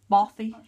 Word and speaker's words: Bothy Threads: little girl it's a how do you say bothy threads or boothy threads or bothy bothy right bothy threads just sounds I didn't know it was pronounced that way but that's very cool